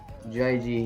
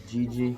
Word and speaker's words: GG: I keep saying JG because I hear people saying JG all the time. And I'm also a bit confused on how it's pronounced, but yeah, however, it works. I'm pretty sure it's GG because I've asked him before, and he hates it when people call him JG.